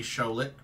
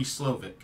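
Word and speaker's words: Slowik: Houston he hired a good coordinator and Bobby schik schic or slovic I keep saying that name wrong Bobby slovic to handle that so my sense is leadership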